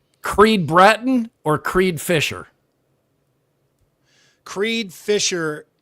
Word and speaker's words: Creed Bratton: Creed Graten. And he's from the office. That's Creed Bratton.